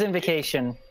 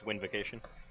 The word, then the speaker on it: Windvocation: It's Funbird's Invocation. Yeah. You mispronounced it. It's Windvocation. Funbird's Windvocation, yes.